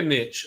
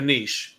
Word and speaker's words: niche: Pick a pick a niche." A niche.